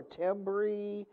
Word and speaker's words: timbre: Timbre, still sticking with sound, and I did say timbre, even though it looks like timbre or timbre, it is actually pronounced timbre.